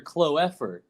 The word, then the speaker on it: Kloeffer: This guy is Oscar Kloeffer. Kloeffer. Like the four-leaf clover.